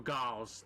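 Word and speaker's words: gols: Or gals. That's how they say it. Gals, not goals.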